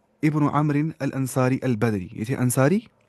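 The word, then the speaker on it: عمرو: अमन अंसारी पढ अमन कोई पढ़ता उमरो उमरो नहीं पढ़ना य साइलेंट होता है इसमें ना बहुत स पढ़ते उमरो पढ़ होते अम वो था एक अमर बिन लो अल खरेजी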